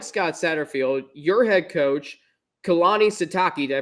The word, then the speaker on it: Kalani Sitake: you is, unlike Scott Satterfield, your head coach, Kalani Sitake, did I pronounce that right? You got it. Yep. Okay. See, I always like to make sure. So Kalani Sitake is going into his 8th season.